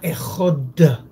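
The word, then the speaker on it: אחד: Entonces es importante cuando tú estás hablando, declarando dedicación de tu vida al Creador, que sea Ejod, bien pronunciado, que tu devoción sea bien delineada, que no se crea, que no se confunda con los otros.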